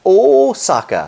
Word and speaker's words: Osaka: The next station is Osaka. That it is in fact Osaka, so make sure you say it right.